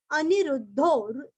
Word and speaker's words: अनिरुद्धो: अनिरुद्धो, अनिरुद्धो निरुरस्व और धो के आगे अवग्रह का हल्का सा खींचना है, हल्की सी प की छाया आती है।